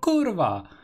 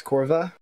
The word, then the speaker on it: kurwa: It yeah, just it's exactly how you write it, with corva. no special pronunciation. Oh, But it it's was not a with joke, V, JK. it's with the W. And we pronounce W as V.